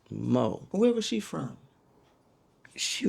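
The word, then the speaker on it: Maux: M A U X M- AU X and pronounced Mo.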